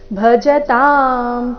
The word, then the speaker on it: ಭಜತಾಂ: ಯು ಮೇಲೆ ಆಘಾತ ಯುಕ್ತಾನಾಂ ಭಜತಾಂ ಇಲ್ಲಿ ಭ ಮಹಾಪ್ರಾಣ ರಸ್ವ ಭಜತಾಂ ಪ್ರೀತಿ ಪೂರ್ವಕಂ ಪ್ರೀತಿ ಪ್ರೀ